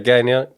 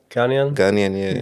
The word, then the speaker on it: Ghanaian: How do you say? Ghanian? Ghanaian, yeah.